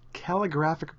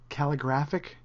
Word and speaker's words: calligraphic: going to talk about calligraphic brushes and I was recently informed that I was saying it wrong it's calligraphic and I was saying calligraphic like it was terrific but you learn something